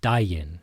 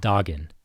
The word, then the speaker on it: daginn: Important thing with daginn is the g sounds like a y. When g is between a and i you make it sound like a y. So daginn, not daggin.